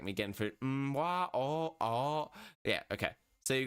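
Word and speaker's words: わ: And this one is just pronounced wa.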